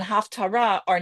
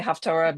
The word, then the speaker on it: haftarah: same sound, which means these words Torah and Haftar are not they're two completely different words. So again, it's correctly pronounced as haftara, but I will say haftra because that's the way I learned how to say it.